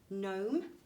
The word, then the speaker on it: gnome: Silent K and G are found before N. An example of that is gnome.